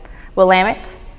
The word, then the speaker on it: Willamette: Confederated Tribes of select Indians there's five commonly mispronounced words MP no Fuu colloquia Willamette Grande Ronde as well as Siletz